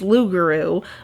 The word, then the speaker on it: Rougarou: An alternative pronunciation of Rougarou is loup-garou, which means man that turns into a wolf.